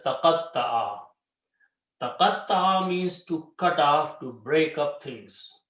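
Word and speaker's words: تقطع: Qaf is there. Ta is the middle letter, we put a shadda. And ayn. Okay, so it's pronounced as taqatta'a.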